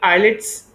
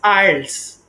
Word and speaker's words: IELTS: the word correctly it's not it is not eyelids is pronounced by so many people or is pronounced by by people is ielts ielts okay international english language testing system this